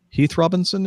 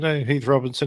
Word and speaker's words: Heath Robinson: now make my all to frequent journeys to Heath Robinson international all the more bearable did I pronounce that correctly sir yeah that's good Heath Robinson he was a quite a famous artist around